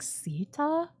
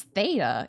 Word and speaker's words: Theta: I'm like, Sita? It's Theta. It's a completely different pronunciation of the E.